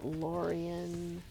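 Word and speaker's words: Lórien: And then the other one is Lorien. Oh, you have to put the accent on the O.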